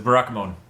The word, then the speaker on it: Barakamon: It's Barakamon. I just read it like it's a Digimon character that looks like Barakamon.